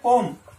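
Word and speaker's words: comb: में हमने लिखा दो, इसका जो प्रोनाउंसिएशन क्या हो जाएगा कोम कोम। यहां बी क्या है साइलेंट है, ठीक है, और कोम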